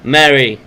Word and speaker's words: Mary: Her name's not Marie. I just always call her Marie. Mary.